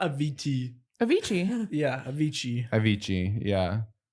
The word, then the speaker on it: Avicii: you say his name yeah not a VT Avicii yeah yeah Avicii Avicii yeah I'm gonna do